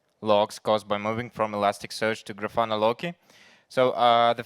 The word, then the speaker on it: Elasticsearch: 10 minutes ago you heard me mispronouncing the name of Elasticsearch. I said Elastic Church.